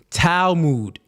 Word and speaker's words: Talmud: None of y'all know how to spell it or pronounce it. Talmud.